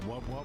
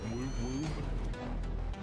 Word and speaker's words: wub wub: It's pronounced wub wub, not whoop whoop.